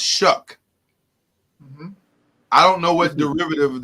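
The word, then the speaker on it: Shough: seeing it's not yeah it looks like Shu but so shuck that is a unique spelling Charlie is spelled s h o u g h yeah and it's pronounced shuck I don't know what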